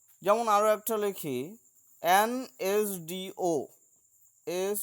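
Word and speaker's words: SDO: যেমন আরও একটা লিখি, অ্যান এস ডি ও, এস ডি ও। তো এস উচ্চারণের ক্ষেত্রে এস প্রথমে এ ভাওয়েল আসছে, তাই আমরা অ্যানটাকে প্রথমে বসিয়েছি।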